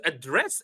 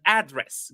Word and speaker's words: address: So if it is a verb The second syllable is high and the first syllable is low. If it is a noun, we have the opposite. The first syllable is high and the second syllable is low. Indeed, perfect, perfect. It's like to address and address. Give me your address and I will address him.